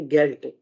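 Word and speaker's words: Geld: अगर किसी वर्ड के एंड में है तब हम उसको डी को डिवाइस करके टी की तरह प्रोनाउंस करेंगे, ठीक है, गेल्ट, ओंट, ठीक है।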